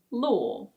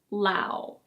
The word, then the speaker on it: law: This one is: law. It's not "lau".